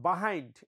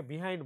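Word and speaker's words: behind: হু আর the person বিহাইন্ড, এটা উচ্চারণ তোমরা অনেকে বিহাইন্ড বলো, এটা বিহাইন্ড বলা উচিত।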